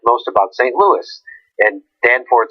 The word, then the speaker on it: Danforth: Danforth.